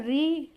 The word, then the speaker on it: ऋ: दूसरा है री री क। री, ऋषि वाला री, ये आप लोग जानते